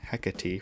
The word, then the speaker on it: Hecate: persona is hecate and i'll be pronouncing it hecate for this video because that's what ann says in game hecate originates from greek